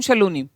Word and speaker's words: Shaloni: हाँ, तो उसमें शलोनी लिखा है बेटा, दैट इज द प्रोनाउंसिएशन। यही है।